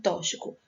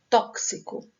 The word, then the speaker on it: tóxico: se componente na palavra tóxico tem pessoas que pronunciam tóxico mas a pronúncia correta tóxico esses de extensão dks então aqui para aumentar